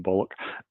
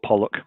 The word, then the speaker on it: Pollock: So but he looks like a Jackson Bollock. Um oh Pollock Pollock. Sorry that's my bad eyesight there.